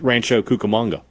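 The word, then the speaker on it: Rancho Cucamonga: Rancho Cukamonga.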